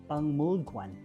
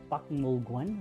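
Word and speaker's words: 박물관: In Hangul, it is Pangmulgwan, right? Supposedly it's letter K, right? In Pakmulgwan, right? But it pronounced as Pangmulgwan.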